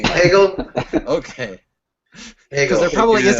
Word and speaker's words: Hegel: not gonna call him higel are you you're you're not gonna mispronounce the guy's name Hegel okay because there probably